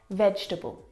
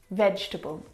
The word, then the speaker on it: vegetable: the first word is vegetable vegetable now this word is a challenge because it looks like there should be four syllables in this word vegetable but there's not